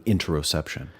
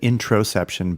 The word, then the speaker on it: interoception: Yeah, I wanted to make sure I heard that right, because I thought maybe you said introception, but interoception.